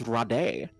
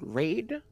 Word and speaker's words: raid: like what is this raw day what is this new vocabulary yes you pronounce it raid yes yes like the insect killer yes I am familiar